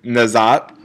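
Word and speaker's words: Nageotte: Also at the Millrose Games, Miss Katie Nazat, by the way, that's actually how you pronounce her last name. Well, right there, that's her Twitter, but you pronounce her last name Nazat, went 4.62 meters, which is 1 centimeter below her all-time PR.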